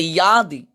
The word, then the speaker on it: যদি: যদি, সংস্কৃতে অন্তস্থজর উচ্চারণ ওয়াই এবং অন্তস্থার মাঝামাঝি, এটা সংস্কৃতে ইয়াদি।